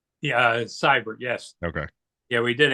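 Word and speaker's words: Seibert: is that how you say his name yeah cyber yes okay yeah we did ask him that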